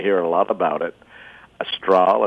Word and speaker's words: Astral: It's a straw.